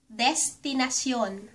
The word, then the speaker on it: destinasyon: It's another Learn Tagalog pronunciation video and let's start with destination ----- sa Tagalog, destinasyon. Des ti nas yon Destinasyon.